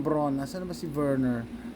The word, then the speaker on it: Werner: Asan na ba si Werner? Verner yung ano yung W sa sa German is pronounced as V.